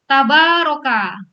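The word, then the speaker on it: تبارك: Nah, kemudian maka tabaroka. Tadi mungkin ketinggalan ya anunya bacanya alifnya ya. Panjang babanya ya. Tabaroka ya.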